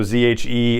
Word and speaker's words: zhe: So ZHE and ZHER for pronunciation of my apologies, but Z and Zer.